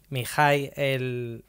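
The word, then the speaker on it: Mihály: ¿Mihai se pronuncia? Sí, Mihaly.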